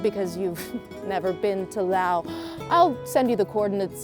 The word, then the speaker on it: Lao: Did you know that it's pronounced Lao?